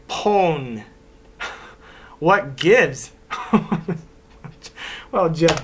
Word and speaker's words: pwn: Dear Jeremy, I noticed in the show you pronounce own as own, but my friends and I say pone.